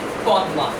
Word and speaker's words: পদ্মা: PAD পদ, MA মা। উচ্চারণ হচ্ছে পদ্মা, বাটের অর্থ কি?